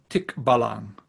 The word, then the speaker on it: Tikbalang: brief overview of the tick ballon yeah that's the the proper pronunciation i have a filipino